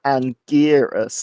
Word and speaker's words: Anguirus: mecha version of is Anguirus, and you could spell it like Anguirus, like Gear.